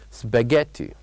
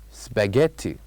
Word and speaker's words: spaghetti: it a spaghetti and the word spaghetti has uh silent letters has one silent letter repeat it after me spaghetti spaghetti so there is one silent letter we didn't say in this word do you know what it is of course it is letter H so this is what